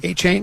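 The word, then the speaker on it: Achane: A chain.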